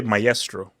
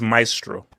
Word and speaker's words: maestro: Did you Did you just say meestro? This is a disaster. It's maestro, notestro. No, it's actually a guy that says is letting you cook your pronunciation.